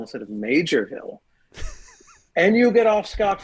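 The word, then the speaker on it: Maugerville: it m a u g r who would pronounce that major um I just assume mger but anyway it's uh it's major Ville you know what this isn't fair actually um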